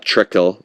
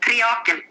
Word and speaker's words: Triakel: this pronunciation wrong, but Trickle, right? Is that how I say it, or Trickle? Yeah, Triakel. Triakel.